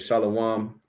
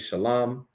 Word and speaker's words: shalam: Someone on the YouTube says shalawam is the actual pronunciation is shalam. Shalawam comes from the Jewish man is a bastardization of shalam.